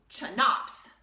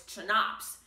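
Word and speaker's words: CHNOPS: you can think of it as chanops so c h n o p s it sort of looks like chops but we got to get the n in there someplace and it's easiest to pronounce if i stick it right there so it's chanops and those six elements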